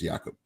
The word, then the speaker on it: Jakob: That's how you pronounce his name, is Jakob. Yeah. No, it's very German.